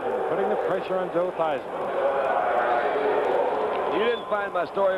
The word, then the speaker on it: Theismann: To Theismann, yeah. So it would rhyme with Heisman.